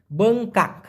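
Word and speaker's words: bengkak: সেটা হচ্ছে আবার বঙ্কা বি ই এন জি বং কে এ কে উচ্চারণটা লিখে রাখুন বংকাক বঙ্কা মানে হচ্ছে ফুলে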